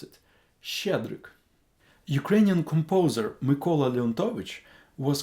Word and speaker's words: Щедрик: Try to pronounce it. Щедрик.